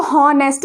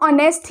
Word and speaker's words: honest: हमें तो हॉनेस्ट बोलना चाहिए, बट नहीं, बोलने टाइम हम ऑनेस्ट ही यूज़ करते हैं, क्योंकि इंग्लिश